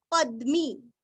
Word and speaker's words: पद्मी: उच्चारण हल्का सा प, शतावर्त पद्मी, जैसे हम पद्म बोलते हैं ना वैसे पद्मी, पद्मी मी दीर्घ, पद्म, निभेक्षणः, नीरस्व, क्ष